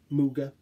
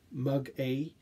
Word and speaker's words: Muga: So Muga, it could also be Mug A, but I'm pretty sure it's pronounced Muga.